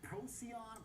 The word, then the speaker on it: Procyon: Jerry Sneed, private wealth advisor at Procyon Partners.